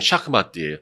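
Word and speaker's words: شاه مات: 원래 발음은 샤크마트예요. 샤크의 전쟁이다. 샤크마트.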